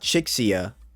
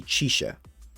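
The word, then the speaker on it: Chixia: girl Taki which I thought is how you pronounce it's touchi and thought chiia was chiia but it's actually chisha so chisha tchi baa and Jingo just keep that in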